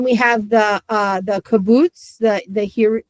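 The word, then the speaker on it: קובוץ: kaboots, the the hear the kaboots down here, which is the ooh, the long ooh. And I always say if you're falling down the stairs and you're teetering at the top, you're going to say ooh. But otherwise, it's like blue.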